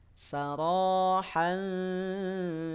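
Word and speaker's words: سَرَاحًا: contoh nih sarohan Jamila sa dibaca pendek ro panjang dua harakat keluar dari ujung lidah dan tebalkan suaranya saro tafkhim pangkal lidahnya naik Han Han diucapkan dari tengah tenggerokan samarkan bunyi tanwin disertai gunah dua harakat saran ja Jami Jami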